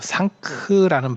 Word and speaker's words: 상크: 그래서 걔네들 발음에 상가가 상가로 발음이 안 되고 상크라는 발음이 돼요. 상크. 근데 그 크라고 하는 게 약간 묵음 비슷하게 납니다. 그래서 상크 이렇게 해서 크자가 거의 잘 안 들려요.